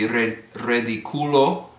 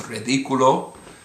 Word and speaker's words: ridículo: Similarly, it would be ridículo, but because of the accent, it's ridículo.